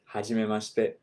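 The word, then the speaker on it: はじめまして: Ha, it's exactly, you would spell it exactly as it sounds, right? Ha, H-A, G, J-I, me, M-E, hajimema, M-A for ma, hajimema, shi, S-H-I, te, T-E, right? Hajimemashite.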